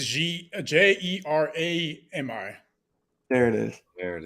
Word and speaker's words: Jerami: No, I think it's Jerami.